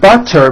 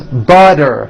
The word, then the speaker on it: butter: So if a letter T falls between 2 vowel sounds, which are voiced, so if it falls in the middle of vowels, then the T is pronounced as a D and the whole word is voiced.